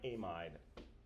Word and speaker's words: amide: So I call them amid. Sometimes you'll hear them pronounced with that long i amide.